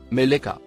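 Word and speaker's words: ملك: troisième personne du singulier à l'infinitif il se prononce mais leca et le nom commun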